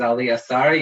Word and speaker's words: Ali Assareh: happy to be here so my name is ali asari you perfect pronunciation angie i saw you looking at me